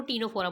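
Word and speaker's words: Ctenophora: बात करते हैं फाइलम टीनो फोरा इसमें सी साइलेंट है हम इसको टीनो फोरा बोलेंगे इसकी कैरेक्टरिस्टिक के बारे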